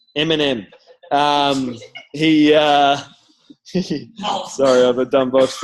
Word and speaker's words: Eminem: Eminem, like the food. Eminem.